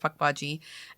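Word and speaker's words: Pukwudgie: PW it's spelled Puck waji um but it's pronounced pck waji it is um supposed to be translated as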